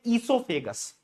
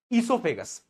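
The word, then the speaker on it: oesophagus: को हम बोलते हैं ईसोफेगस। और इसकी स्पेलिंग ई से स्टार्ट नहीं होती, इसकी स्पेलिंग ओ से स्टार्ट होती है बेटा, ईसोफेगस।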